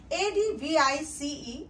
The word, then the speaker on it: advice: pronunciation if we see a d v i c e advice it rhymes with dies rice nice mice but a d v